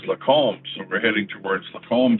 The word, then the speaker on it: Lacombe: So it must be somewhere really close to here, right near Lacombe, as I call it. but it's actually pronounced Lacombe. Lacombe. Must be like a French word or something, a French name.